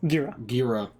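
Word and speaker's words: Ghira: Gira. And she said, no, he's a hero. Instead of letting him say, you know, this is wrong. And it was a corrective error. Yeah. Well, I'm saying, but Gira was trying to like correct him, like, this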